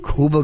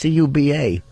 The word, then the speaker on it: Cuba: wow ding ding ding Kuba good I thought he's pronouncing Kuba what why would you call him that it's Cuba I don't know I